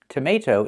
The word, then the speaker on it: tomato: It's pronounced tomato. That second t changes to a fast d. Tomato. Why? Because the second t is before an unstressed syllable. Tomato. The stress is on the second syllable.